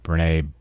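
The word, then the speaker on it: Brené: Well, and I think there's another thing that comes to my mind, and one of your favorite thought leaders, Brene, I think she pronounces it Brene?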